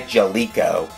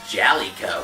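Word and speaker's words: Jaleco: the aesthetics it was released in 1989 by jaliko actually it's pronounced jolly co well you know what it was a side-scrolling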